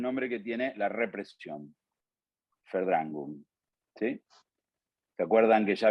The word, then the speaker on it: Verdrängung: Y les escribo el nombre que tiene la represión, Verdrängung, ¿sí? ¿Se acuerdan que ya habíamos arrancado nuestro curso de alemán, que era la B corta, se pronuncia como F, Verdrängung, ¿sí?